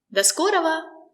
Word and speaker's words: До скорого: The letter O is not stressed. That's why we say da. До скорого. We don't say ro, we say ra.